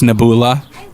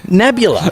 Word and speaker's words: Nebula: gonna butcher the name it's naboola no again nebula nebula is the name like the sky it's it's a it's